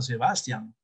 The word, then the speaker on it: Sebastián: Mi nieto se llama Sebastián.